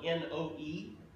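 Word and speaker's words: Noe: noah in the new testament is sometimes spelled n o e and and we would pronounce it no e it's referring to noah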